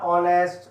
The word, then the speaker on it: honest: R, honest, honorable. Here H is silent.